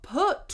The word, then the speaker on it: put: So, a lot of people they see the double O and they think ooh because that's what it looks like. But sometimes when we see a double O, it's actually uh uh Now I want you